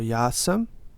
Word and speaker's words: ja sam: You may notice that I pronounce it as if it was a one word, and that's the way you should actually do it, because this sam is a word without an accent.